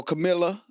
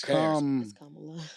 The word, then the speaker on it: Kamala: So Camilla. How you say it? Kamala. Kamala. Yeah. It's Kamala.